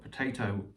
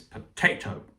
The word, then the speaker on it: potato: used the example of the word potato, stressed on the middle syllable, and you can tell that if you say the word angrily, it's the best way of realizing that it's potato.